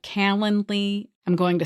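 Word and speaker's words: Calendly: So using a software program like Kalanley, I'm going to spell that. It's C A L E N D L Y. Kalandly.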